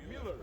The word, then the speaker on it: Mueller: how do you pronounce Daniel's last name? Mueller. Miller Yeah. or Mueller? Mueller. Mueller. Mueller. M. Like M-I. Okay. Mueller. Miller.